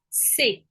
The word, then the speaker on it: ces: се жіночого роду і третій множина для обох родів си Еска не читається А цей коли ви